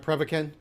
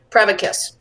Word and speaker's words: Prevacus: Am I pronouncing it right? Prevacan? Prevacus.